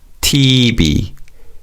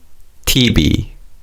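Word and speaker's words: 티비: Also, just like how we call a television a TV, Koreans also call television TV, but phonetically in Korean. So, it's TB. TB. Let's say that together. Repeat after me. TB.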